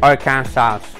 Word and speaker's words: Arkansas: the acceptable pronunciation is in three syllables with the final s silent the a in each syllable with the italian sound and the acids on the first and last syllables so keep your arkansas to yourself uh-oh do